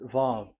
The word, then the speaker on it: Vav: So it's V as in Vogue. So it's really V. How to read Vogue? So the word, the shape Vav is really pronounced V, like Vogue. That is it, pronunciation. So here in this side, it's pronunciation. This is pronunciation. So according to the old Hebrew word today, those who, the owner of the words, I mean, so it's a V. So don't change it into W.